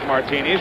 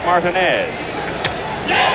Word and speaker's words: Martinez: now we're told that the absolute correctness of the pronunciation is Martinez right field Bay set